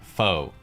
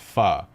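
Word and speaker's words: phở: after some type of pun involving the word foe faux sure forever faux true fo you Etc but in reality the word is actually pronounced PHA as in faded guys I waited four years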